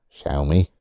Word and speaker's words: Xiaomi: the Chinese technology manufacturers Xiaomi which is actually x i äôm I shall me that's how you pronounce it they have been making